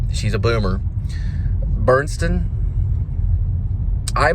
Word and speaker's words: Burstyn: This is right after Ellen Burstyn. Oh, I mispronounce her name like she's a boomer. Burstyn?